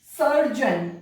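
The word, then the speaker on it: surgeon: फिर यदि किसी वर्ड के अंत में जी ई ओ एन आई या जी आई ओ एन आई तो जन प्रोनाउंस करते हैं। सर्जन, जी ई ओ एन आया ना, सर्जन।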